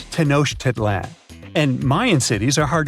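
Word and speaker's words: Tenochtitlan: Can you pronounce this name of the Aztec capital city? Yes, it's quite difficult to say in English and above my pay grade. Okay. Okay. It's Tanosh Titlan.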